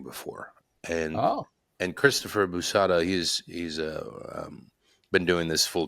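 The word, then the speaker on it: Boosahda: And so you co-produced with a guy named Christopher Bushda, I think it is. Maybe Busada, mispronouncing his Busada. Christopher Busada. Yeah, yeah.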